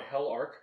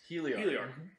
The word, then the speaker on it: Heliarc: I was wondering, you originally were on Hell Arc Records? Heliarc. Mm-hmm. And out of Bakersfield, California. That is not the pronunciation I got out of that.